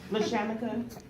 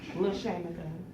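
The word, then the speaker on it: LaRShamika: Okay, LaShamika, the R is silent, it's L-A, capital R, and it's silent. You might want to make a note. Capital R's. SHAMIKA. LaShamika.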